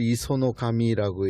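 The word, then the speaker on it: 石上: 돌석자에다가 윗상을 쓴 다음에 이걸 이소노카미라고 읽었어요.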